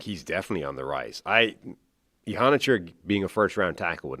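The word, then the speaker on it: Iheanachor: Ihanichor, I believe is how you're supposed to pronounce that as opposed to how we've been pronouncing it.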